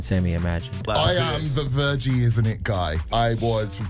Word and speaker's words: Virji: And genuinely, I was just checking the pronunciation of his surname. I just went, it's Virji, isn't it?